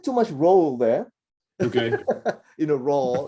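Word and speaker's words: ر: Don't say the raw, which is a little too much rolling, right? On the tongue. So less of that rolling. It is a raw. It's like an R, but it's pronounced with a vowel in it.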